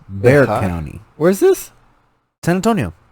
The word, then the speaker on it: Bexar: um became pronounced bear not many people know this but it's not bexar county it's bear county where is this san